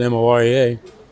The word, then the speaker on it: Morea: Well, it gets to my name, which is spelled M-O-R-E-A, pronounced Morea, But he looked at it and he said, Morea to Korea.